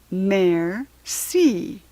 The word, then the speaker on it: merci: thank you and French it's merci you say it like this mayor see that evening I tell